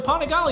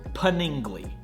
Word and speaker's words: Panigale: you're wondering where the polygon has been I got you bro also it's pronounced pun ingly because it's our technically not a polygon bad boy let me